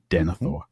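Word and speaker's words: Denethor: The th is just one sound. And so that second last syllable is light. And so the stress goes on the third last denithor.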